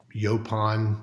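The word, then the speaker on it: yaupon: tea from our tea Farm down here to yopon which is you know the only indigenous caffeinated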